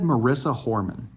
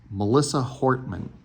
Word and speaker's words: Melissa Hortman: I said Marissa Horman. Her name was Melissa Hortman.